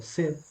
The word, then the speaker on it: said: Se el verbo decir será s o said o set or s se es un verbo irregular. Sí, esto se pronuncia como tal cual como la palabra set de tener set de agua.